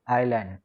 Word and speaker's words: island: Spelling देखो इसकी क्या है, ISLAND, लेकिन इसमें जो एस है वो साइलेंट है, तो वी कॉल इट आइलैंड।